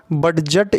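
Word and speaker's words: budget: बजट, इसको डी यहाँ पे देख रहे हैं बजट, लेकिन डी जो है यहाँ पे साइलेंट है, ये बजट होता है।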